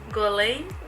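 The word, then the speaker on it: Guerlain: It's Gorlane. French, so you're Yes. supposed to miss a few letters. Yes, I don't. Yeah, the R is missing. I don't know. Gorlane.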